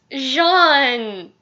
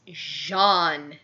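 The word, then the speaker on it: Jaune: I'm really really sorry I just have this big thing with mispronunciations and I mean no offense against you DPZ it's just it's Shawn they say his name over and over it's Jean getting back to the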